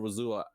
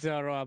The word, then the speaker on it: Zorua: He means Zorua, by the way. So Yeah, I'm saying it wrong. Sorry, Razula. Yeah. The Lulu. Zor is the The first Lulu. syllable.